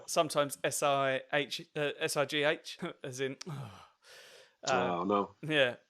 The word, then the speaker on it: Si: But when she pronounces my actual name, and I've had this a couple of times at gigs, people pronounce it C, like the Spanish for yes.